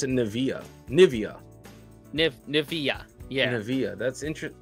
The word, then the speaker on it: Nivea: So we pronounce it Nivea.